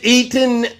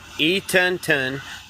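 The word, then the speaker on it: Eatonton: at e Georgia e Eaton Georgia all right uh all right no you got to say it right eonon Georgia eonon Georgia there you go that's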